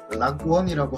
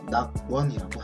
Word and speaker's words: 낙원: 그래서 우리는 이제 발음을 할 때 락원이라고 하지 않고 되게 힘들잖아요. 낙원이라고 한다는 겁니다.